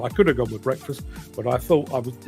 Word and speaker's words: Break Fast: would be on at breakfast at 10:00 a.m. which is why that is precisely why I pronounce it break fast I could have gone